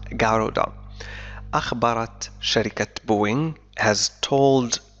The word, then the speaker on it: Garuda: قالت شركة النقل carrier شركة نقل الوطنية national الإندونيسية والتي اسمها جارودا، عفوا نطقتها من قبل جارودا لكنها تنطق جارودا، أخبرت شركة بوينغ has